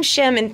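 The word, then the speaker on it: Shame: Dino and you I'm chemin thank you so much for pronouncing my name correctly oh you're welcome yeah it's a it's SH AME yes SH AME yes of course I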